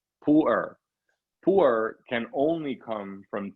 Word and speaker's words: pu-erh: pile of Tipu earth it's called two syllables to earth it's usually spelled pu-erh Pooler poor can only come